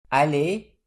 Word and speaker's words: allez: These letters and letter combinations are pronounced more or less like A in the English word may, without the Y part being pronounced. This is a closed A, so the pronunciation is something like E.